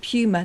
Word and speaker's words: Puma: it's not a Puma. It's like tumor, but from Arnold Schwarzenegger.